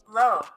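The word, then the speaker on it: Loewe: All right, the number 4 spot, we got Low. low. It's just spelled a little differently, Low. but it's pronounced the same, right?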